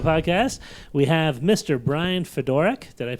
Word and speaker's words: Fedorak: Bryan Fedorak. Did I pronounce that right, Brian?